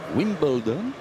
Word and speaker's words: Wimbledon: 4 US Open, 2 Wimbledon, je prononce à l'anglaise. Vous savez que nous, on aurait dit Wimbledon, mais bon, Wimbledon.